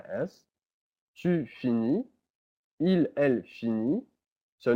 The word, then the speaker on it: finit: Il, elle finit. So notice how they're all pronounced the same way because the T and the S are not pronounced.